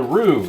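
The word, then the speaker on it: roux: work is because we're making something called A Rue spelled r o or r u x or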